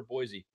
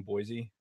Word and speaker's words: Boise: There's no Z in Boise.